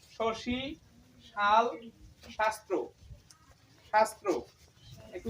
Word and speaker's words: শাস্ত্র: দেখো তা লিখবো স এর উচ্চারণ শশি শাল শাস্ত্র শাস্ত্র একটু উচ্চারণ করে দেখো দীর্ঘটা উল্টে যাচ্ছে কিন্তু শাস্ত্র